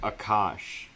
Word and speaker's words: Aakaash: I mean, Aakaash is like Aakaash. Or Aakaash. My name is Aakaash, so it's like a long A, you extend it.